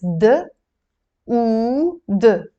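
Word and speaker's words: دود: So it's d, oo, d. Together you will pronounce it dood.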